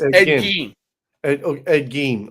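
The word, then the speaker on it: Ed Gein: Ed Gene. Okay, that's right. That's how you say it.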